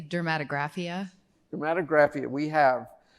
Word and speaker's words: dermatographia: So, what's the exact pronunciation? I say dermatographia.